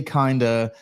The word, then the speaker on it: Kinda: She says Billy Kinda is pronounced like it rhymes with Linda.